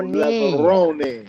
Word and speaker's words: Levrone: Levrone. Even I'm pronouncing correctly? It's Italiano, macaroni, Italiano, Levrone. No phony baloney, Kevin Levrone. So, o Kevin está falando, a maneira correta de pronunciar o nome dele é Kevin Levrone.